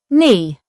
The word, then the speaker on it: knee: Kn makes the n sound with a silent k at the beginning of words. It is used in words like knife, knee, and knock. The k is not pronounced, only the n is heard.